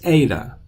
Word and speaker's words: eta: gotta learn this one this is ADA with an a sound like in the word eight ADA Alpha Beta Gamma